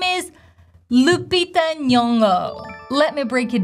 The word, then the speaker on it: Lupita: And in the end, we have the schwa, this neutral, Lupita.